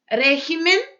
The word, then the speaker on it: régimen: Régimen e regímenes. Muda. Caráter, caracteres. Então, ó, caráter, caracteres, né? Exemplos aí com essas duas palavrinhas. Aquel país tiene el mejor régimen político de todos los regímenes que conozco.